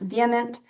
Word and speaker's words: VHEMT: The Voluntary Human Extinction Movement, whose acronym is pronounced vehement, for instance, hopes that the current generation will live long and die out.